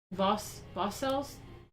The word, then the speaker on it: Vauxcelles: a startled critic, Louis Vassels, how do you say that? Vauxcelless. It's like, sounds like voluntary celibates, the Vassals.